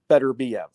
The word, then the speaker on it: Beterbiev: fight against Anthony yard uh we went with better BF and I've been hearing since then you know